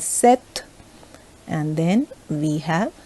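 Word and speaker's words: cette: set and then again c e double t e again pronounced as set and then we have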